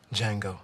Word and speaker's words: Django: Django. The D is silent.